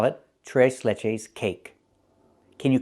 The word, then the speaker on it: tres leches: And we don't call it trese leches. We call it t leches cake.